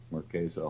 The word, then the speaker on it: Marquesa: I call it the Marquesa. That's what the owner calls it, Marquesa Hall and Theater. Okay. So that's like the third different pronunciation I've heard. Call it Harlem.